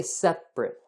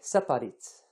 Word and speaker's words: separate: A lot of times we have this sound called the schwa sound.